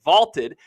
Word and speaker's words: VLTED: Go download the Vaulted app. It's spelled VLTED to challenge your friends, store your predictions, and join daily cash prize pools without an entry fee.